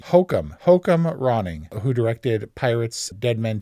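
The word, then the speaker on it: Joachim Rønning: His name is pronounced Hokum Ronning, who directed Pirates, Dead Men Tell No Tales,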